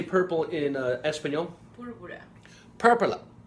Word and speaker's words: púrpura: Púrpura. Purpura. Púrpura.